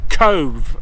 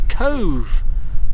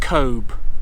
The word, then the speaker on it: Cobh: This place is pronounced Cobh. The B and H is pronounced with like a V. So it's Cobh, not Cobh.